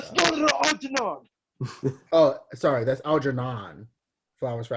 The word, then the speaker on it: Algernon: Flowers for Algernon, not Algernod. Yeah. Algernod is a given male name which derives from the Norman French meaning of with mustaches. She definitely meant Algernon and like didn't know how to spell it, and we just got the D at the end.